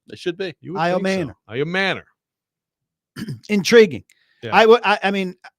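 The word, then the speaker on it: Ayomanor: No, we looked up pronunciation guides. Iomanor, right?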